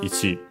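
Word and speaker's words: 一: Yeah, accented on the last syllable, so ichi. You might hear it also as ich.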